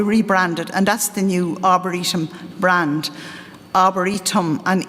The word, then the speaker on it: Arboretum: So we rebranded, and that's the new Arboretum brand. Arboretum and E, there's a little dot under the E, and people say to me, what does that mean? So that people can pronounce it Arboretum.